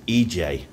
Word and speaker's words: Ece: So this is the EC Apartments. Icmeler, Turkey. The EC Apartments, I think you pronounce it EJ, but it's in English, it's EC.